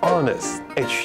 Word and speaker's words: honest: 念成 honor，它是 honor，诚实 honest。H 就是不发音，然后它的发音会是怎么发呢？